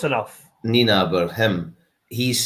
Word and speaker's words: Nienaber: You're looking at, right, okay, and I can't remember, how do you say his name? Jack Nienaber, the Leinster coach? Nienaber, you were close enough. Nienaber, him, he's saying how tight the league is.